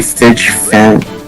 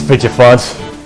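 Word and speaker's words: Fidgephant: It's fidget font. That's how it's pronounced, because it's fidget and an elephant. Like, that's how it's pronounced in the English dub for some reason, and in the game.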